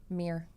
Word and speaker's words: mirror: the Midwest is to ask them to pronounce the word mirror? Mirror. Because everyone in the Midwest, we think that's right. It's mirror. No, I say like Rick Mears, like Rick Mears, Right, you know, the mirrors.